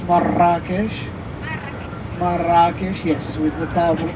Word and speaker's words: Marrakesh: So Marrakesh or Marrakesh with a double R, as Moroccans would pronounce it like this, Marrakesh.